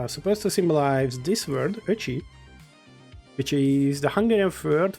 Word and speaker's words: Öcsi: Because we have Ö. Just like how Öcsi is pronounced.